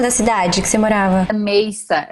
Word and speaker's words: Mesa: cidade que você morava meza ela se pronuncia amei essa mas escreve mesa MS a usar você pode